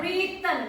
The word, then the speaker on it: written: F ad wren ya But re written not WR not WR but written Apa artinya written menulis